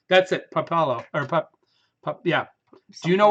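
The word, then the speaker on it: pápalo: What the sign I Popallo. saw. Heat loving cilantro alternative. Yeah, it's spelled correct. Yeah. Oh no, it's Papalo.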